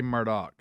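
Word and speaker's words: Murdaugh: am I saying that it's spelled murd but they say Murdoch okay all right then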